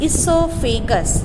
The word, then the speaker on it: esophagus: The food pipe, it is also known as esophagus. O is silent.